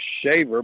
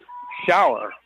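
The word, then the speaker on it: Shauer: yard I was and pronounced Allison's name as shaver but it's shower s-h-a-u-e-r un and he takes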